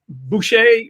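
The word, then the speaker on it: boozhoo: i am doing well how are you um boucher i think that's i've said it right for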